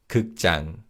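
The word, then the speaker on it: 극장: When we say this wordjang in is pronounced as a tense consonant. So it's kukjang. Let's say that together.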